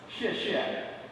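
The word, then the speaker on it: 谢谢: This is pronounced xie xie.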